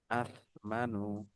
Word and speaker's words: أثمن: كل কলা شخص সস্তা, ওয়াল ইনাবু আথমানু, ওয়াইনাবু والنبي আহসানু, আথমানু। أثمن আথমানুর উচ্চারণ হবে এই যে এরকম হামজা তা নুন, তা সা জবর আত, বিন জবর মা, নুন পেশ নু।